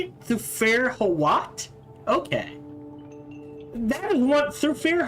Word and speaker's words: Thufir Hawat: Thufir Hawat?